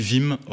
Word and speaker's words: Wim Hof: On prononce Wim, du coup. Oui, on dit Wim Hof. D'accord. Voilà. Wim Hof. Wim, c'est son prénom et Hof, c'est son nom de famille.